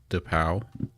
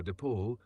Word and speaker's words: DePaul: on your name there, DePau. Sorry I got that one wrong. Alia DePaul, thank you for the grace and the phonetics. We got it locked in now, DePaul, like applause but with extra class.